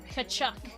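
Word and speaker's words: Tkachuk: And there's a lot of silent letters in hockey. Kachchuck, for example.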